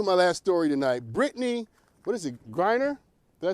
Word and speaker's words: Griner: Brittney, Griner? Did I say it right? Griner, thank you.